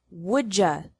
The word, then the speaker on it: would you: you finish the book would you sounds like whoooaa would you like anything